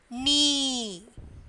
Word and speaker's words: knee: And then knee. Knee also K is silent.